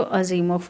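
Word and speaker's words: Asimov: Isaac अजीमोव. Isaac अजीमोव. देखो यहाँ पे वी का प्रोनाउंसिएशन एफ होगा, तो अजीमोव बोलना.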